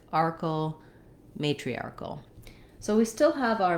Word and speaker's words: matriarchal: arc is short, and in matriarchal, that matri is fast.